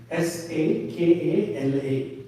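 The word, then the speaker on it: सकल: There is a word in Sanskritam which goes like S-A-K-A-L-A. Sakala. Sakala. Sakala means what? Sakala means? Huh? Sakala means the everything, the whole, entire. Sakala means.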